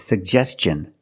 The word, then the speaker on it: suggestion: We have two G's and we're going to pronounce both of them. The first G is a hard G sound, sug. And the second G is the J sound, like juice and jump. Pronounce both. Suggest. Suggestion. And T-I-O-N, the T makes the ch sound. So together, suggestion. Suggestion. Put the stress on the second syllable.